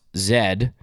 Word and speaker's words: Z: So like, yeah, we we also call like for example the last letter of the alphabet in Canada that's pronounced zed and you guys call it Z.